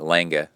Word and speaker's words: Lange: And he said that Patrick Lange, and that's how you have to say it, Lange, that's how you say it.